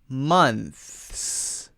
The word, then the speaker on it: months: position so it goes so it starts here and then it goes slowly back into the S then all you do